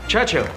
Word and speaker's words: Churchill: sir James's visitors Churchill Churchill that's how you say it all together like that I'd heard church and he'll but couldn't find either